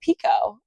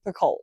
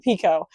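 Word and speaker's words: Picoult: other name by Jodie Pico." And I've been saying Pakult. So, I don't know if I've just been pronouncing it wrong forever or if I heard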